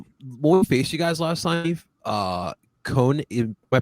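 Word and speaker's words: Koné: But when we faced you guys last time, Kone, am I pronouncing it right? Ismail Kone? Kone, yeah.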